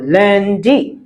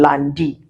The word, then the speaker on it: lundi: So, un for one, un for lundi. Lundi. Yes, I got you on that one cuz you've been saying landi. I caught you. It's not landi. It is lundi cuz U N is un.